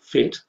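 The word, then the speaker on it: PhET: And a little application that you can download or that you can look at online from a website called FET, that's spelled P-H-E-T.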